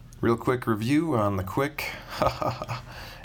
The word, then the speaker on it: Quik: pretty cool so real quick review on the quick it's spelled key UI k if you didn't see